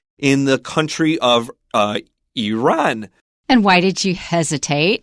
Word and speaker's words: Iran: The educated pronunciation is Iran and Iraq. But my impression is if you listen to soldiers coming back from those areas, they say Iran and Iraq.